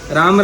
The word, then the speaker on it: राम: राम राम खाली नहीं बोला जाता, शुद्ध उच्चारण है रामा बोलते हैं ना, हरे राम राम राम कृष्णा कृष्णा, ठीक है, रामा बोला जाता है।